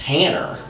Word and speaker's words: Hannah: The daughter of Oliver Cobb Thompson and Sarah Easton Hannah, pronounced Hanner, Bonds is so quick to point out.